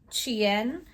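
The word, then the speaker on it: Qin: Then I also read Sign of the, and if I'm pronouncing it correctly based on what was in the book, it's Chien.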